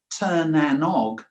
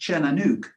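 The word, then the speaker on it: Tír na nÓg: Now, if I was to pronounce it in English terms, it would be Tir-na-nog, but it's not. It's pronounced Cernanuk.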